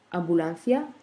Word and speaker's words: ambulancia: Ambulancia, la même chose. La syllabe tonique, c'est la.